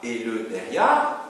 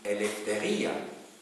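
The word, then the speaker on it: ἐλευθερία: En grec moderne, autonomia, et alors on ne dit pas eleutheria, on dit eleftheria, puisque le ypsilon, ça se prononce comme un V, eleftheria.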